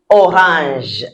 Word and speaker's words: orange: So as you can see, the spelling is just like the English one. The pronunciation is different. Une orange. Because the French sounds are different from the English sounds.